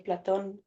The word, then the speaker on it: Plato: How do you say platon in English?